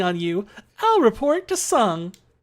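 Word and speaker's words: Tseng: are the best part of this game it's pronounced sung I always pronounce the sang okay not always I used to pronounce it tasang tasang no okay I'll take your word for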